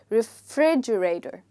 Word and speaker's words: refrigerator: And here, the second part is stressed. That's why it's written in caps lock. So you'll say refrigerator. Please repeat it after me. And when you try to say the F, make sure you bite your lower lip with your upper teeth.